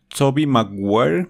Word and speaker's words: Tobey Maguire: estilo es Toby tobey aguanta como pronunciar Toby maguire en inglés tobey maguire No mejor le diremos